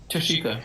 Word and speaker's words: Tashika: Tashika.